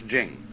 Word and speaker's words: Jing: be pronounced Ching but it's Jing like a J and so Jing in